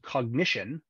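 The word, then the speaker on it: Cognixion: uh there is a company called cognition uh spelled with an X so c-o-g-n-i-x-i-o-n um that has been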